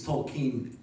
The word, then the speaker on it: Tolkien: What is the correct way to pronounce his last name? It's Tolken correctly, but well, I was brought up saying Tolken.